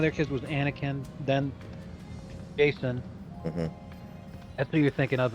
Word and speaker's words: Jacen: One of their kids was Anakin, then Jason. That's who you're thinking of. It wasn't a hard C.